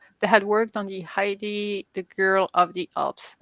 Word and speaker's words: Heidi: popular heidi i mean i say heidi but i don't know how you would pronounce her name hi decent right yeah heidi is right okay i'm not completely